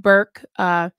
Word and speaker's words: Burke: I went back and forth with Burke, which rhymes with jerk.